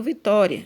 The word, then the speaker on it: Vitória: Então, o que eu mais demorei falando aqui foi a sílaba tó. Então, tó é a sílaba mais forte, ou seja, é a sílaba tônica.